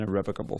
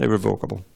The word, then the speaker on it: irrevocable: is established as an irrevocable fact. Not irrevocable, irrevocable, irrevocable.